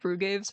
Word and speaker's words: Brugaves: Let's just go, Brugaves. I know it's pronounced Brugaves, but I think it'd be funny if it was like Brugave, like the syrup.